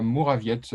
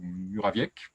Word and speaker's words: Murawiec: Or, il s'agit du tout premier livre d'une jeune autrice, Léa Mourawiecz, si on le prononce à la polonaise, ou Murawiec, peut-être, si on le prononce à la française, qui publie chez 2024 Le Grand Vide.